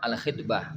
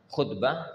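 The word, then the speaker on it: الخِطبة: lamaran hukum seputar lamaran bacanya Ya Ikhwan alkitbah dengan dengan mengkasrah K ya karena kalau dibaca dengan dah khutbah jadi ceramah Jadi kalau khnya dibaca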